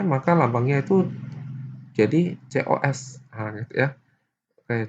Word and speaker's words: cos: Oke, karena dia aslinya C, maka lambangnya itu jadi COS. Nah, gitu ya. Oke, tapi bacanya cos gitu ya, cos.